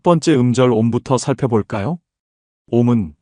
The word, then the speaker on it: 옴: 옴은 산스크리트어로 아움이라고도 발음하는데 우주의 근본 소리입니다.